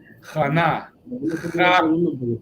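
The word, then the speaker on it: Chaana: Jana. Ja y na separado.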